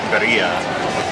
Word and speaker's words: birria: I had the beef birria.